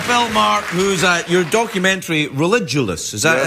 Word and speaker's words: Religulous: I'm here with Bill Maher, who's your documentary Religulous. Is that how it's pronounced?